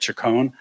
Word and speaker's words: Chacon: Peter Chacon, who told me I could call him Peter Chacon. I asked him how his mother pronounces it. He said Chacon. So it's Mr. Peter Chacon as far as I'm concerned.